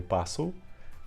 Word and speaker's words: passo: So the s sound is the same, but we can see that it's spelled differently than in Portuguese. It has two s's because one s leads to a z sound in Portuguese.